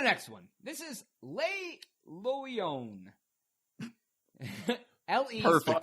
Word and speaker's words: Le Loyon: This is Le Loyon. L-E. Perfect pronunciation.